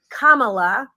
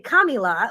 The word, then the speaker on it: Kamala: didn't say it wrong I now know it's Kamala some people want to say kamila what however you want